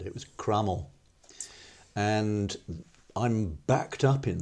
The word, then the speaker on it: Cromwell: And that indicates to me that very common thing in Tudor pronunciation has happened. It was Crummell.